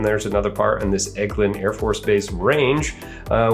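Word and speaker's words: Eglin: That's how you pronounce that, Egglund.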